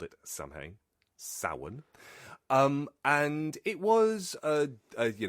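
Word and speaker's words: Samhain: reading uh which I called at the time Sam Hayne, but I now know of course that it would be pronounced sin.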